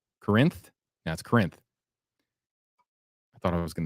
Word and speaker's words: Corinth: Porter's Corners near a town that I can't pronounce. Corinth? That's Corinth. I thought I was going to mess that one up, but no, I believe it's Corinth.